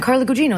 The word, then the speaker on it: Carla Gugino: And I was like, "No, Carla, it's Italian, Carla Gugino." And they went, "Oh, Carla Gugino."